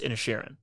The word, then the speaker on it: Inisherin: like it's just pronounced it's just pronounced in airan and they they pronounce it like that like Ed Sheran but in cheran yeah exactly okay got